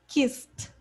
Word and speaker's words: kissed: Okay, and here, kissed. Kissed. No, not city. Kiss, T. Tudo junto.